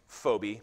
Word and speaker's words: Phoebe: paul writes i commend you to our sister phoebe would have been pronounced phobi but we say phoebe so we'll stick with that a servant of